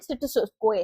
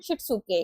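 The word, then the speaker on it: しつけ: सीरी, सीटो, सीसो, सिटेत्सु एंड सिटसुकोए। तो यहाँ पर अभी थोड़ा सा प्रोनाउंसिएशन मेरा गड़बड़ हो रहा है, तो सीरी, सिटो, सीसो, सिटेत्सु एंड शिटसुके।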